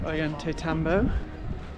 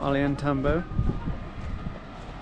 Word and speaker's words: Ollantaytambo: Welcome to Aante Tambbo or Alantambo. Um depending on how you say it. The first one is apparently the correct pronunciation on Google, but still probably butchering it.